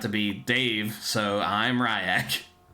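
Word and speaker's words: Ry'ak: Nope, it's not Rick. It's uh Ryak. Yeah. He pulls out his hand. He says, "Uh, it's spelled R Y apostrophe AK."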